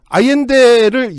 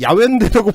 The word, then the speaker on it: 아옌데: 자꾸 발음을 하게 되니까 아이엔데를 야웬데라고 발음을 할 리가 없는데 몇 번 접해보지 않았기 때문에 보고 읽어도 못 읽는 거죠, 보통.